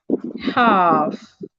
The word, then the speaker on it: half: Letter L is silent in words like calm, fog, old, half, etc. So most times when we have letter L after a vowel, the letter L becomes silent and the vowel becomes a long sound.